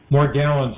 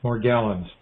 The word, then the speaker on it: Morgellons: just told me about is it morgellons or magellan more gallons is pronounced more gallons okay he was the